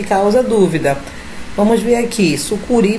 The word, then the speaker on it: sucuri: Vamos ver aqui, sucuri, você sabe que é sucuri, então a sílaba tônica está no ri, é uma oxítona.